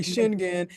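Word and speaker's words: Schengen: European so you pronounce it what schlagen yeah Americans say shinan so I've never heard it pronounce that way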